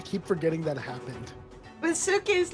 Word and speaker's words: Suki: Suki, you sound like, you know, Suki, like the word like in Japanese.